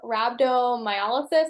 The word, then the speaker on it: rhabdomyolysis: I have rhabdomyolysis, I think is how you say it.